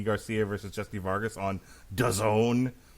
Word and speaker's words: DAZN: Would you be watching Mikey Garcia versus Jesse Vargas on DAZN, which rhymes with Endzone?